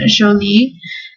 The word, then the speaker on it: Jolie: Number 4 is Jolie, or the French pronunciation Jolie, and it means pretty in French.